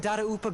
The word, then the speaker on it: Dadaupa: are still right here in Mondstadt, over in Dadaupa Gorge. So that's how you pronounce that.